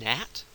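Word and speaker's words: gnat: Edge um Matt and natat I put this um I included this because Nat of course has the silent G in front but it's not pronounced so it's not a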